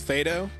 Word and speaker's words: FADO: It's Fado. Everyone, I have an announcement to make. Our good friend FADO, the way to pronounce their name is Fado. Like Fago, like the drink.